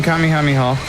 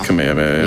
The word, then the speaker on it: Kamehameha: Definitely not pronounced that way, but yeah. I mean, I was going to say like it's not pronounced the Yeah, like DBC. Exactly. Yeah. Like Kamehameha or something. It is Kamehameha.